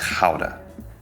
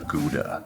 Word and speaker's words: Gouda: I will say one of the most important things, especially you American viewers, it's Gouda, roughly. Sorry, Dutch viewers. Americans say Gouda. It's not Gouda.